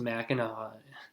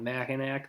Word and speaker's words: Mackinac: on a mac and it looks like it's spelled mackinac well it's actually pronounced mackinaw so if you're calling it mackinac then you can just